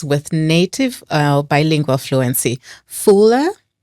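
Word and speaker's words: Fula: Fuller, French, Wallof and English. Do I have the right pronunciations?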